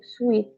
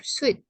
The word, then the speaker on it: suit: No, sweet. Yes. Ya, suit. Suit atau blazer? Suit. Suit ya bacanya. Bukan sweet.